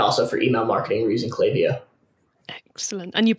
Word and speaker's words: Klaviyo: sponsor the podcast and i keep keep going to tell myself off every time i go clav no chloe lavio is the right way to say yeah um if louise